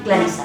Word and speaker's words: Clarissa: La Listella és l'única del barri que pronuncia marcadament les dues S del nom. Diu que si un dia té una filla li dirà com jo. Clarissa, amb dues S.